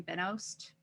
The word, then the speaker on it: Benoist: Benoist.